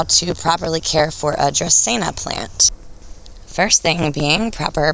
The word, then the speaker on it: Dracaena: talk about how to properly care for a dressena plant first thing being proper pronunciation i actually had to google it myself i wasn't sure tristina so this is the google dictionary pronunciation playing here tracina dracena got it tropical palm-like shrub or tree with